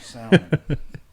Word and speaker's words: salmon: It's like salmon. Oh, it's salmon Something. or pink, I think pink. coral. It's salmon. salmon, that's- salmon or salmon. It's not salmon. It's It's salmon. got an L in it.